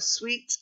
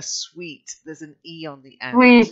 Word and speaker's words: suite: then dived into a suite of apartments not a suit a suite yeah apartments yeah a dived